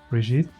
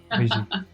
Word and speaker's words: Brigitte: I love the French pronunciation. Brigitte.